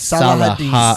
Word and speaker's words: Saladin: Salah is how salad make sure it's spelled Saladalin, but it's Salahadin. Salah Salah Salah. Well, it's spelled like Saladine.